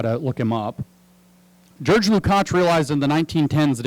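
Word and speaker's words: Lukács: by the name of george lukach that's the hungarian pronunciation of george if you're trying to figure out how to look him up george lucas realized in the 1910s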